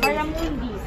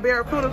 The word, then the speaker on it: Barramundi: Barramundi. Barramundi. Barramundi. It's not barracuda? No, it's not no barracuda.